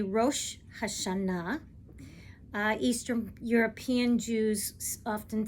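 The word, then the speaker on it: Rosh Hashanah: Spain versus Eastern Europe so in modern Hebrew today we say Ro hasana uh Eastern European Jews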